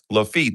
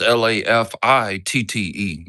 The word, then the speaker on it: Lafitte: That's why I did the title, not my feet or your feet. Lafitte, that's just how you pronounce it, right?